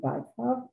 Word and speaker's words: Bykov: First of all, dear friends, I must say that the correct pronunciation, I'm sorry, is Bykov, because Dmitry Bykov is a very well-known dictator.